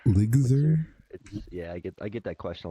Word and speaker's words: Lgzr: Ligzer, it's LGZR. Ligzer? Yeah, I get that question a lot. Eligma? Not very obvious. Well, hey, not there. Ligsma. Ligzer. L. Imagine there's like an I. Ligzer.